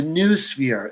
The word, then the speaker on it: noosphere: Or that the noosphere, NOO sphere. Noosphere, yeah.